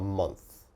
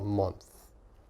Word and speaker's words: month: okay so a month little bit difficult to pronounce a month a month your tongue has to come out a little bit a month a month so a